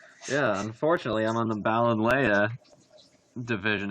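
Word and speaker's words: Ballonlea: Yeah, unfortunately, I'm on the Balinleia division, as Jeff has informed me it's pronounced. My dyslexic ass thought there was an extra O in there and thought it was Balloonly.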